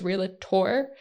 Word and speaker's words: realtor: like you have to the real technical pronunciation is real a tour but realtor it is real tour real tour but I always want to